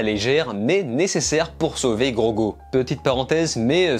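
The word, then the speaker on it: Grogu: go petite parenthèse mais ça fait deux vidéos que je switche entre la prononciation gros goût ourgaud il me semble qu'en vo ils disent gogo donc on va dire gros go ok mundo se fera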